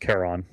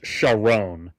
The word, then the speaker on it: Charon: Oh, it is pronounced Charon. Oh, wait, hang on. No, in the movie it's Sharon, but Damn. he is indeed based on Charon.